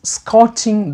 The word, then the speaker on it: scorching: Okay See, The stones scorching the boy's feet. The stones scorching. What do you mean by scorching? R is silent.